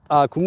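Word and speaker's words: 굽네: For regular chicken, my favorite is kumnae, which is spelled as kup and ne. Like yes, ne.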